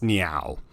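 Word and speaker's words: Neow: this tower is the goddess knee ow I at least think that's how you pronounce it's supposed to be an onomatopoeia of what whales sound like so maybe an eel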